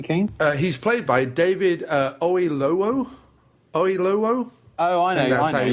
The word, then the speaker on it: Oyelowo: He's played by David Oyelowo. Oh, I know. And that's how you pronounce yeah.